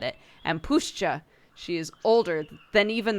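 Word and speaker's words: puszcza: like the wind wrestling in the leaves push pushcha great pushcha is the right word not Forest forests are like Fields or Orchards cultivated he spat as he said it and pushcha she is older than even the concept of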